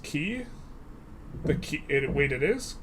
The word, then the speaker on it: Quay: By the way, Quay is pronounced key.